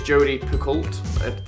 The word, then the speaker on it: Picoult: Eggers the circle number 1 number 2 is Jodi Picoult that's how you say it House Rules number